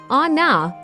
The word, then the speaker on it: 女: Before kanji came to Japan, the native Japanese readings were onna and me. 女目 The readings that came from China together with the kanji are jo, nyo, and nyo.